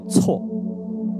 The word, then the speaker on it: 昔: 的昔字，在古代还有个发音叫错啊，错误的错啊，它还有个发音是错。